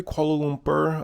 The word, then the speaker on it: Kuala Lumpur: to five things no one told me about Kuala Lumpur Malaysia before visiting and I think I said that correctly Kuala Lumpur I know in the videos I was saying